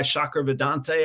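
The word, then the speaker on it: Shankar Vedantam: he's an Indian guy, Shakar Vedante, I think his name is how you pronounce it.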